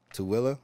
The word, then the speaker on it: Tooele: that, I was like, that's Tooele. And they were like, Tooele? I'm like, I'm sorry. Where do you get a W at in that spelling?